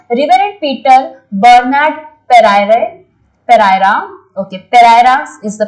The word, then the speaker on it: Pereira: His interaction with the great scientist Professor Vikram Sarabhai and the Reverend Peter Bernard Pereira, okay, Pereira is the pronunciation, shaped his thought on religion.